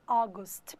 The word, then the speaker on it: August: E também outro é agosto, que escreve August, mas fala August. O som do A com O é O.